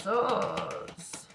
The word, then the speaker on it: sword: Ace of Swords. Swords. Why don't we pronounce the W in sword?